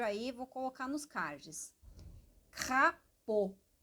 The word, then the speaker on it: crapaud: Crapaud. Lembrando que esse A mais U, ele é um O. Imagina o O com acento circunflexo.